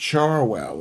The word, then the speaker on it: Cherwell: Cherwell is pronounced Charwell.